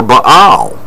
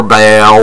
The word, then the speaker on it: Baal: name was forgotten for Baal. Or Baal, or, you know, however one would pronounce it, but it's B-A-A-L.